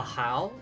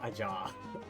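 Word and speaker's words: Ajaw: read it as like a jaw no is it like Spanish style like the J being pronounced like uh H wait isn't that a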